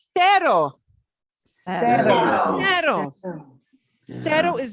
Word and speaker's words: cero: And notice it's not spelled with a Z, because in Spanish, Z and E, Z cannot be next to an E. It cannot be followed by an E. So when they spell that out, it's C-E-R-O, not Z-E-R-O, not Cetta, but se. Cero.